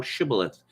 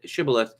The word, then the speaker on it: shibboleth: they said unto him say now shibboleth and he said shibaleth for he could not frame to pronounce it he said sybileth because he could not frame to pronounce it right then they took him